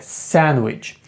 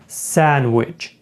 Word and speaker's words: sandwich: Далі у нас є теж таке слово, як sandwichч. І зверніть увагу, друзі, зазвичай ось ця буква D, вона не читається, цей звук. Так, д ми його зазвичай не вимовляємо і просто кажемо sandwichч. Sandwichч.